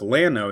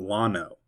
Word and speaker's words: Llano: Llano, Texas. It is pronounced Llano, not Llano.